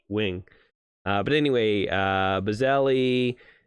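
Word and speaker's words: Nguyen: Fox Fairfield Melissa N Nan I think it's Wing actually I had a friend in school and his last name was nguan we call Nan but I'm pretty sure it's actually pronounced Wing uh but anyway uh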